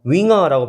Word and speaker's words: Jünger: 붙으면이 점 두 개를 우물라우트라고 하거든요.이 우물라우트가 붙으면 윙어라고 발음이 되면서 제자라는 명사가 됩니다.